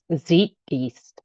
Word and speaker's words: Zeitgeist: Zeitge beast. What? How do you say that? Z E I T G E I S T Z Zeitgeist.